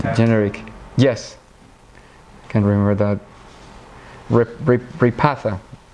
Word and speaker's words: Repatha: to remember the generic yes can't remember that repatha how do you pronounce it repatha yeah ratha okay so I've never used it